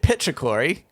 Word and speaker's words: petrichor: Bit petrichory. Is it? So is it core or claw? Core. Petrichor.